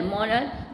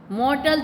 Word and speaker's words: mortal: Okay, फिर every मॉरल thing, EVERY every, MORTAL मॉरल thing, THING. मॉर्टल thing नहीं बोलना, T इज the silent is there in the word.